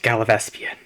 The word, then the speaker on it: Gallivespian: This level is called Gallivespian. It's pronounced Gallivespian. I talked to some people after I recorded this. I completely misread the name. It's pronounced Gallivespian.